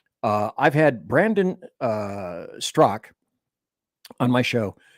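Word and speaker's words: Straka: I've had Brandon uh stro on my show it's spelled St Str AKA but it's actually pronounced stro I just messed up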